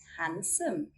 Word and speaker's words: handsome: We do not sound the D when it comes before an N or G. Here's some examples. Wednesday, Wednesday. Sandwich, sandwich. Handsome, handsome.